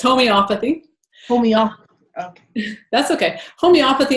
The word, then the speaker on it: homeopathy: much so what is homeopathy or not even pronouncing it properly just a slight correction it's homeopathy Oh mija that's okay homeopathy is a practice